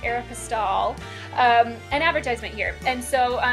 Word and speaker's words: Aeropostale: is so we see an arrow postal or I think it's considered to be pronounced Aeropostale an advertisement here and